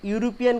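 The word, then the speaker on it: European: 19 number में यूरोपियन, यूरोपियन का भी देखिए ई भावेल है शुरू हुआ भावेल से, मगर मेन बात क्या है भावेल होने के बाद भी ई का प्रोनाउंसिएशन आया है यहाँ पे यू, ई यू जैसे यू आया, वाई ओ यू का प्रोनाउंसिएशन आया, इसलिए यहाँ पे ए।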